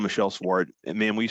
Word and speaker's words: Schwart: with you ma'am uh and ma'am how you pronounce your last name swart s swt it's I pronounced it correctly then